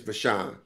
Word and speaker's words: VaShawn: It's VaShawn. Okay. So, So, there we go. So, Dr. VaShawn is the proud principal of Grandview Middle School in Grandview, Missouri.